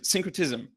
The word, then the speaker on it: syncretism: saying it correctly is that syncretism or synchronous syncretism right yeah so is that kind of your